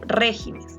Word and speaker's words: regímenes: Lo mismo acá con régimen. Régimen tiene la mayor fuerza de voz, a eso se refiere la sílaba tónica. Régimen, ¿no? Pero si yo pluralizo, lo vuelvo en plural, la palabra régimen, yo diré regímenes. Y ya no va a tener la sílaba tónica acá, sino está cambiando.